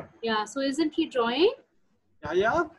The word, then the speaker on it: Yahya: This boy's name is Yahya. Is it? Yeah. Am I pronouncing it correct? Yes. Yeah. So isn't he drawing? Yahya, how are you?